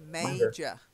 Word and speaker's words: major: major. Major. major, That's it. Yeah. major, Yeah. major. Even though we say majesty, we say major.